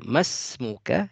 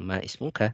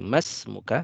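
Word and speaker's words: ما اسمك: Dibacanya mas muka ya, jangan ma ismuka tapi mas muka langsung ya.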